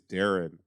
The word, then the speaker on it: Darren: Also, his dad's name is Darren, even though it looks like Darian.